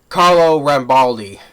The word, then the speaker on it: Rambaldi: I mean, the practical effects are excellent, top notch by Carlo Balram. Sorry, mispronounced the name again. Carlo Rambaldi.